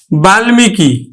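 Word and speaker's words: বাল্মীকি: কিন্তু হচ্ছে তাহলে আমরা করতেছি এখন গুল গুলমো উচ্চারণ করছি কিন্তু গুলমো বাল্মিকি বাল্মিকি বাল্মিকি দেখো তাহলে আমরা উচ্চারণ করতেছি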